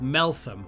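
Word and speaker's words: Meltham: I could literally get a bus to a place called Melam, which is spelled M E L T H A M. I can't help but see it as Melt Ham sometimes, but there we go.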